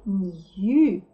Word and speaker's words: knew: Читается new, совсем как прилагательное новый. Вот два new. Первое new – это прилагательное новый. N-E-W получилось слово new. А это слово тоже читается new, потому что бедненько Кей обижена. Когда она слово начинает, а дальше сразу N, то она вообще не читается.